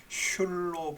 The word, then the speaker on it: 戌: 해서 신에서 시옷을 따오고 율에서 율을 하면은 이게 원래 슐로 발음이 되는, 우리는 지금 술이라고 그러는데 슐 그렇게 발음이 된다고, 그게 고전적인 발음이다 그렇게 보면 되겠습니다.